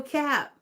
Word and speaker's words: cap: It rhymes with um clap. So it's the opposite of lie when you're telling the truth. Yes, no cap.